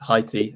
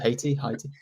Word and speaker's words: Haiti: I did England versus Haiti. Or is it Haiti?